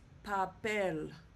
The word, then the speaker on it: papel: And so we know that the stress is going to go on the last syllable which will be the e. So it's pronounced papel, not papel.